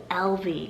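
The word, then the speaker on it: Elvie: e-l-v-i-n-a-l-vena and then i also have the name lv spell e-l-v-i-e so they both mean l friend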